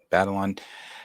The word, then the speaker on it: Batalon: Batalon.